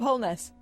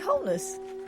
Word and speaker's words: Holness: Are you going to say Bob Holness? Yeah, Bob Holness. Is it wholeness? Wholeness. Wholeness. Wholeness. Wholeness. Wholeness. Why are you saying wholeness? Because that's how you pronounce it, Bob Wholeness.